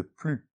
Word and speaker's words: plus: Attention, on ne prononce pas le S de « plus ».